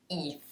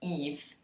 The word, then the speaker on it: if: Last word in this category, very similar to the word it, is the word if. Yeah, so that was the mispronunciation of it. If. What it really should be is if.